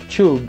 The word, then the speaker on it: tube: E a pronúncia original de tube é tube, porque o U, ele tem o som de you, né?